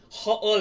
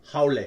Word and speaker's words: haole: Yeah, it's not haole, okay? It's haole. Yeah, it's one word, one consonant, one it's spelled different. One syllable. Excuse me, not consonant, syllable.